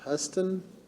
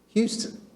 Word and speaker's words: Houston: Okay, this is, I'm going to pronounce it as Huston subdivision. Is that correct, John? Houston. Used to see an O in Houston.